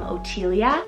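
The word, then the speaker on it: Otylia: these names are obviously Tila is derived from otia it's beautiful with the OT t y l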